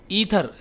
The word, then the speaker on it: aether: यहाँ पे बता रहा, देखिए ल्यूमिनीफेरस ईथर, यहाँ पे ए साइलेंट है, देखिए AETHER, ईथर। ये ईथर क्या है, केमिकल मरकब है।